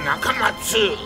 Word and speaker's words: Nakamatsu: He dropped the letter U because he says an 8-letter name is easier to remember, but he still wants you to pronounce it Dr. Nakamatsu.